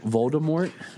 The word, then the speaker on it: Voldemort: here's random fact that Voldemort in the original Harry Potter like books when she wrote it was supposed to be more along the line of a silent T like a French pronunciation but then the first